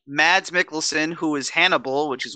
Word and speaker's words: Mads Mikkelsen: milk smell what how do you say that Mads Mikkelsen Mads Mikkelsen who is Hannibal which is one of my